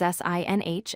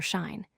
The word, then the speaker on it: sinh: Let's define the first function, hyperbolic sine, often written as sin(h) and pronounced sinh or shine.